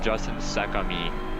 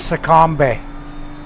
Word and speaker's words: Secombe: He said Justin Secombe. His name is Sakambe.